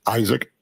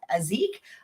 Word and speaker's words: Aizik: My first name is Isaac. A I Z I K. It's phonetic.